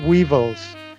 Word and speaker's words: weevil: Entonces dice the lesser of two weevils. Weevil es un gusano, un gorgojo, ¿no? Entonces se escribe con W-E-E-V-I-L, es decir, y se pronuncia igual que evil, pero con W al principio.